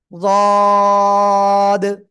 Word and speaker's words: ض: তো আমি এটা উচ্চারণ করি, জিহ্বার গোড়ার কিনারা উপরে মাড়ির দাঁতের গোড়ার সাথে সবাই একসাথে লাগাবো। সবাই সবাই লাগিয়ে এবার উচ্চারণ করতে হবে। যদ। যদ। উচ্চারণের সময় আমাদের খেয়াল রাখতে হবে জিহ্বার আগা, এই সামনের উপরে দুই দাঁতের আগায় বা গোড়ায় যেন প্রথমে না লাগে।